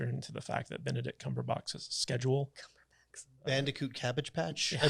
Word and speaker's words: Cumberbatch: Plus, you have to factor into the fact that Benedict Cumberbatch's schedule.